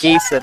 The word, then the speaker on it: Van Giesen: Geeson, that's how you pronounce it.